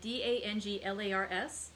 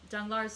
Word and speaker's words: Danglars: going to pronounce it d-a-n-g-l-a-r-s danglar i don't think we pronounce the s um and so danglar